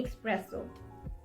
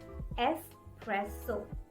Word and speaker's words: espresso: seen people you know they just can't resist the x sound it's like espresso please give me expresso can i have one espresso please that's wrong the correct way to pronounce this word is espresso espresso it's not expresso resist the urge to say this x sound this espresso espresso it's